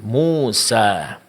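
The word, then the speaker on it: موسى: Pengucapan alif di sini itu tidak akan sempurna kalau dalam pengucapannya kedua bibir itu tidak dibuka. Yaitu mulut tidak dibuka. Umpamanya kita membuka sedikit saja dari bibir kita, maka bunyinya itu tidak sempurna.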